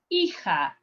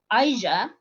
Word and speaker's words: hija: Hija is not Aija, is hija. Remember the first lesson we said that the H, you don't pronounce the H in Spanish when it's coming at the very beginning of the word.